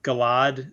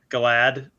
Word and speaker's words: Galad: is one of them galad slash sort of glad i say i say both of those those two